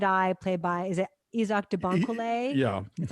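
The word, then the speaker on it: Isaach De Bankolé: um a private eye played by is it izak debonko yeah that's how you say it um and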